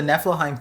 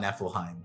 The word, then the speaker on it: Niflheim: And the funny part is I mispronounced it the entire time. I pronounce it like Milfheim, but like with an N.